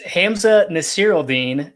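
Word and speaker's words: Hamsah Nasirildeen: this guy played at florida state that is hamza nasiril dean that's actually that's actually easy it's not too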